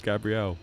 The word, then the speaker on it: Gabrielle: It's not Gabriel. It's Gabrielle.